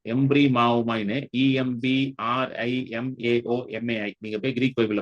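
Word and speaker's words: ἐμβριμάομαι: இதுக்கு இட் is very hard to pronounce. எம்ப்ரி மாவோமாய்னு EMBRIMAOMAI.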